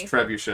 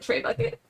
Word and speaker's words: trebuchet: He I called didn't it know how to trebuchet pronounce trebuchet. Oh, and called it tray bucket.